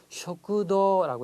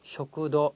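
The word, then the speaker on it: 食堂: 쇼쿠도라고 해서 자, 도 다음에 우도 기네요. 자, 이렇게 마지막에 긴 발음을 짧게 쇼쿠도 이렇게 짧게 끊으면 일본 사람이 잘 못 알아들어요.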